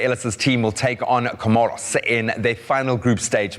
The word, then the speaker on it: Comoros: how do you pronounce is it comoros yeah it's comoros comoros welcome back as we